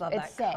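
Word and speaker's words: Saie: SE Beauty one and this is say like say hello but it's s a i e and people don't know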